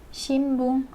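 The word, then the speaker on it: 新聞: Shinbung kalau orang kita nyebutnya shinbung, tapi sebenarnya meskipun tulisnya shin dan bung, tetap ya dibacanya itu jadi mendengung kalau n ketemu b. Jadi orang Jepang sering menyebutnya shinbung. Shinbung, shinbung o yomimasu, membaca koran.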